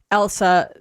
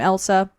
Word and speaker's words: Ilse: Is it Elsa? It's how do you spell her? E-L. Because it does sound like Elsa, not to be confused with the queen from Frozen.